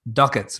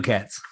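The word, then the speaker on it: Duckett's: being newfoundlanders he said they pronounced it wrong the actual name was the pronunciation was ducketts apparently but of course they called it the dukettes yeah yeah one other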